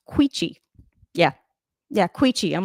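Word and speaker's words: Quechee: Anyway, it's pronounced quichi.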